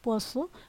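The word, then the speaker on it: poisson: জ উচ্চারণ করতে হয়, কিন্তু যখন আপনি দুইটা এস দেখবেন তখন আবার এই সয়ের উচ্চারণ হবে।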